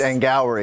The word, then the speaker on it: Angourie: You said it that because you didn't know how to pronounce her name. I don't. It's Angourie rice? It's Angourie.